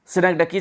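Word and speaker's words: synecdoche: तो जब उसको बोलते दोस्तों सिनेक्टिकी, जब आप सिनेक्डकी इसका प्रोनाउंसिएशन है सिनेक्डकी, जब आप किसी एक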